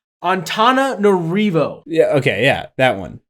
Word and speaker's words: Antananarivo: But this is Antananarivo. Say that? It's like Antananarivo or Ravo. I don't think the V make a V sound. Antananarivo.